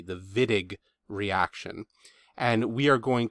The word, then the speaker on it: Wittig: the wittig reaction so that w is pronounced with a v the wittig reaction and we are